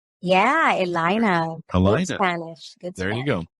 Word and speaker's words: Elayna: really appreciate it did I get to the pronunciation your first name correct yeah Elina El Spanish good Stu there you go I'm